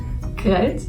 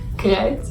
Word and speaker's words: kruid: Kruid. Kruid? That's so bad. Kruid.